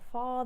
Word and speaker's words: far: prettier far than these draw a little line through the r of far we're not going to say prettier far than these try that prettier far than nobody wants to hear that prettia pretia fa than these try that and i